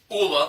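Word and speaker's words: JOOLA: And Jula, I think it's pronounced Ula, the J is silent.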